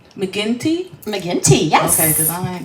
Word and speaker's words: McGinty: McGinty? McGinty, yes.